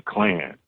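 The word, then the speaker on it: Klann: And I'm like, man, like your name her last name changed to Clan. Okay. So it's not, it's spelled Clan, but it's with another N. So it's K-L-A-N-N.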